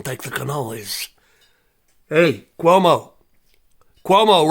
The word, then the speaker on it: Cuomo: the cannolis Hey Cuomo Cuomo rhymes with Homo Sapien I'm out of New